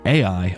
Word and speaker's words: Ai: From there, Abram went on towards the hills east of Bethl and pitched his tent with Bethl on the west and Ai or I or A, it is spelled Ai, on the east.